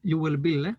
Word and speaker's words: Joel Bille: I'm Joel Bille, is how we pronounce it in Sweden.